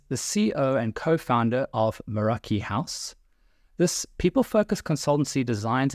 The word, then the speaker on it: Meraki: I also now phonetically know it's called Meraki, which of course almost reminded me of The Sound of Music, Do Re Mi, Meraki.